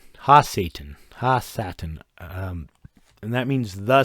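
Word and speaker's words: ha-Satan: like noun or description or whatever it's it's ha Citan ha Satan Satan and that means the Satan that means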